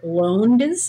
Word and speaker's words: Lowndes: Talking about poetry, one of the characters who's, I think, Mr. Lowndes is the pronunciation, the teapot, Diana's mad guy.